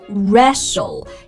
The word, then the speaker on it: wrestle: 然后呢还有长得很像的摔跤，这个词也是 wrestle， T 也不发音，而且开头的 W 也不发音。